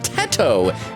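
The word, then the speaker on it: Teto: said redhaired girl is kasani tetto pronounced like in potato okay soato there we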